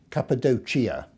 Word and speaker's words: Cappadocia: Firstly, an exploration on foot of the Cappadocia area in central Turkey, or as some of my friends there pronounce it, Cappadocia.